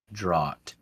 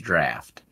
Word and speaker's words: Draught: on it's a non-alcoholic drought yeah drought yeah non-alcoholic drought which is pronounced out yeah I think it was dropped now I'm confused no no no it's pronounced draft but we're just red